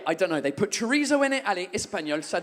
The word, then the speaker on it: chorizo: And she goes, oh, chorizo? And I go, no, it's pronounced chorizo. That's how they pronounce it in Spain.